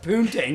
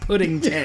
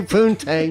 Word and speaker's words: poontang: I think it's pronounced poontang, not pudding tang. Yeah, it's supposed to be poontang, not pudding tang.